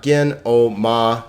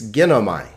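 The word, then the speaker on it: γίνομαι: a diphthong right i so this is not gen o ma and then like like this it's ginomai a three syllable word because there are three vowels notice again that the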